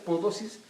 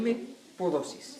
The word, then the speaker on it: Mpodozis: Si usted quiere buscarlo en internet, no le escriba con P, porque se pronuncia Podosis, pero empieza con M. Correcto. M. Podosis.